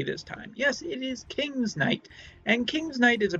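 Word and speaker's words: King's Knight: And I believe I actually pronounced that properly this time. Yes, it is King's Night.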